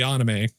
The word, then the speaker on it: anime: Japanese is always pronounced the same way. They have four vowels. U A N O. A is pronounced ah. So it's got to be anime.